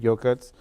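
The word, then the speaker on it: Yokuts: it is spelled um it's spelled uh y-o-k-u-t-s okay so in our language classes it'll spell it y-o-k-u-t-c-h because it tries to emphasize more of the correct pronunciation okay so yeah I mean um again the the other the first way the current way that they've renamed it yogurts um it's more common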